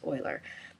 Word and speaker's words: Euler: And you have the choice between Quaternion and I believe you pronounce it Euler Angles. It looks like it's Euler, but I think the correct pronunciation is Euler.